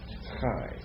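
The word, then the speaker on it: חי: So it's almost high, but not quite. Chai.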